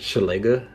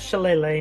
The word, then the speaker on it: Shillelagh: That's how I pronounce it. Shillelagh.